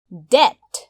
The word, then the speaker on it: debt: career पेशा career DEBT debt ऋण यस शब्दमा रहेको B लाई हामी उच्चारण गर्दैनौं त्यसैले हामी यसलाई भन्छौं debt DECADE decade दशक decade